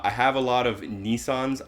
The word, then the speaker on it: Nissan: a lot of Nissans I'm going to pronounce it Nissan everyone here pronounces it Nissan including the car dealerships and on the commercials and I understand that some people pronounce it Nissan and maybe officially on their website it is Nissan it will be Nissan